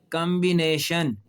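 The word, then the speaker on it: combination: एम और बी तो आया है लेकिन अब यह लफ्ज जो है इसमें बी बोलेगा। अब यह लफ्ज आपको भी पता है क्या है? कॉम्बिनेशन।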